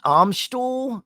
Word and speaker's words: Amstel: Wait a minute, not to be that guy, but it's pronounced Amstel.